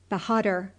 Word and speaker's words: Behadr: It sounded something like this, _Yezonkai Behadr_, with the accent on the last syllable, Behadr, and the _a_ sounded like _a_ in _hark_.